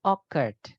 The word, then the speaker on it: occurred: Oke, bacanya occurred. Jadi C-nya dibaca K ya, occurred.